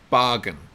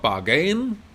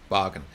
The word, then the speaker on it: bargain: with the pronunciation here bargain bargain so it's not bargain bargain you want to stress the first syllable bargain so a bargain this